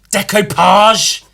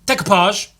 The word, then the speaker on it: decoupage: Decoupage, is that what that's called? Decoupage. I think it's spelled decoupage, which is stupid, but that's how words work.